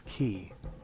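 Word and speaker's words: 気: It consumes continuous chi, but I keep calling it chi, but it's ki.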